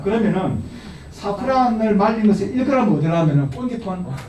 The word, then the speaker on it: 사프란: 이것도 사프란 하는 건데 실제 사프란 하면은 이 샤프란을 하면 안 됩니다. 샤프란은 땡, 사프란이 맞습니다. 여기는 비누가 샤프란이지, 그죠? 그래서 사프란으로 해야지 샤프란으로 발음하면 안 된다는 걸 제가 말씀을 드리고요.